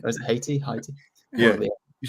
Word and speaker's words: Haiti: I did England versus Haiti. Or is it Haiti?